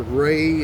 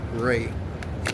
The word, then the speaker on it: Wray: Okay, his name is spelled W-R-A-Y. Okay, his last name. And his middle name is Asher. Christopher Asher Ray.